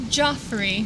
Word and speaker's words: Joffrey: last name once again Joffrey Joffrey yeah i added a syllable earlier and that's probably not the first time you ever heard it that way before for sure but